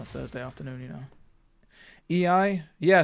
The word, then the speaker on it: Iai: EI, yeah. So it's like this. It's the quick draw style, right? That's what it's called. Though it's typically spelt IAI, from what I remember.